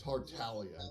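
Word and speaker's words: Tartaglia: Talia hey that's okay like 90 of the gangster Community mispronounces his name including the original English voice actor for tartalia because they don't know that the name's origin is of Italian descent or the g is silent but that's all right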